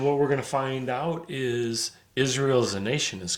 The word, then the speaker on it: Ai: city is literally spelled Ai and and you call that I some people pronounce a i i pronounce it I I because it's a sort of a diphthong but yeah yeah you